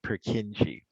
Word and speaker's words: Purkinje: sometimes they spell it k-i-n-j-e but it's still pronounced purkinje and so these are multi-polarized multipolar neurons it